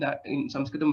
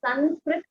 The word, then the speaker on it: Sanskrit: I have heard various pronunciations, Sanskrit and Samskrit. Which one is correct? Okay, so there is also a regional influence which happens. So Sanskrit, some of the North Indian speaking people would say that.